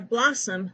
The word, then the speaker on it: blossom: how did you do for a blossom the second s is silent for dumb the b